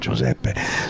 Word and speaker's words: Giuseppe: Sorry, Giuseppe, which is the correct pronunciation, okay. Giuseppe.